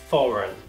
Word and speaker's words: foreign: A pronúncia seria foreign.